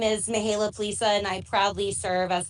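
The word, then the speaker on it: Mihaela Plesa: pronunciation? Yes, you did very well. Thank you. Good morning, everybody. My name is Mihaela Plisa, and I proudly serve as the vice chair of the House Democratic Caucus.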